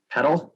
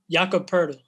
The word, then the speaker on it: Poeltl: Jacob Petal, is that how you say it? Jakob Poeltl. Oh, yeah. Okay. Jakob Poeltl.